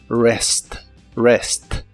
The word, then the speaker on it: rest: Rest que significa descansar la r o r de inglés es como una r de español pero muy muy suave Rest Rest y usaremos el verbo